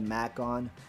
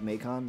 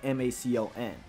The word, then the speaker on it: Macon: uh and it's spelled m-a-c-o-n uh a lot of people call me Macon because they think of bacon uh because my name is spelled very similar to bacon uh but it's Macon um but if you break